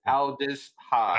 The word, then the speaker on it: Aldis Hodge: That is Aldis Hodge. Aldis Hodge, yeah.